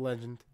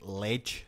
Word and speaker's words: legend: Plus, John Cleese, legend, like actual legend. You know what? Even using the word legend. Yeah. Like because in England it's like ledge, and it's like no, it's not ledge, it's legend.